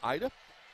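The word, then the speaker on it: Aida: First name pronounced Ida, last name pronounced Akhmedova.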